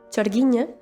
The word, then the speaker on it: sorgina: también la figura de la sorgina que se pronuncia algo así como sorgiña que son unas mujeres